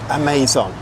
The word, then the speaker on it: Amazon: Before we go any further, I'm just going to say Amazon is how it's pronounced in Thailand. So I'm going to get you used to that if you're not in Thailand, because if you ask for the Amazon, people are going to have no idea what you're talking about.